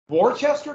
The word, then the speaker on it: Worcester: Then next year, Worcester versus Georgia. Worcester, yeah, Worcester. Worcester, that's what it's called, Worcester. I want to say Worcester and I cannot, but it would be pronounced Worcester.